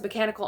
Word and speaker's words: Mechanika: For me, she has mechanical arms, so I stick with Mechanica.